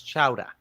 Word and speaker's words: chowder: well first of all you guys are pronouncing it wrong it's chowa uh being from New England chowa but um yeah I